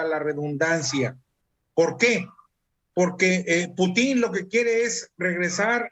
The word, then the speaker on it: Putin: Perdón, Putin, no es Putin. Yo no sé si el señor presidente de Rusia Putin, pero es Putin. Putin. Acento en la U, por favor. Putin.